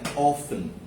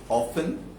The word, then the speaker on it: often: আচ্ছা, the days had become cold and often you can pronounce it in two ways, often or often. Americanরা কি বলে? Often. Britishরা often. Okay, I let him come.